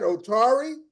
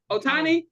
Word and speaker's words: Ohtani: Is it, how do you pronounce that? Otari? Atani is Atani Otani Yeah, getting Shohei a Ohtani.